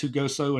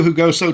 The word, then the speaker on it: Jugoso: And I apologize if I'm mispronouncing that, but I believe it is Hugoso.